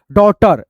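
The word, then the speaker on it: daughter: एच टी है तो यहां पे जी जो है ना एच आपका साइलेंट है ठीक है जी और एच आपका इसमें साइलेंट है और टी ई आर से दोस्तों आपका ट आर टर डॉटर ठीक है यहां पे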